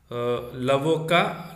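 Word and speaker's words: avocat: Okay, you should not pronounce the T here, and you must pronounce the T here. So that is the difference.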